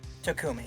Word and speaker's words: Takumi: I don't know how it's spelled. I heard Takumi. Takumi, yes.